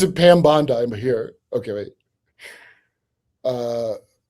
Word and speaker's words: Bondi: Uh it's pronounced Bondi, not Bondi. Uh, not an American, a I pronounce it Pam Bondi, but here.